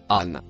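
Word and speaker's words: عن: Le mot vert se prononce an.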